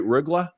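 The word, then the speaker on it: Rögle: He played in Rugla in the the Swedish Hockey League. Did I Did I pronounce it right? Ruggla.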